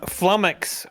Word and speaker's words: flummox: You know, flummox rhymes with stomach.